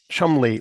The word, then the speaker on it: Cholmondeley: The Elizabethan portrait on the cover, the Cholmondeley ladies and their offspring, is a visual pun on the title. And yes, I realize the pronunciation of the name does not follow its spelling, but pronouncing words exactly